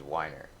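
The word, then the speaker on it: Wyner: Well, I almost got my dad's name, which is Weiner. Ooh. Yeah. It's spelled how?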